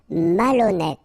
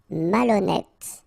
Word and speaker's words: malhonnête: Malhonnête. Okay, remember, H doesn't exist, so malhonnête. Don't insist on the final E. Malhonnête. And here you get accent circumflex, so you pronounce it like E.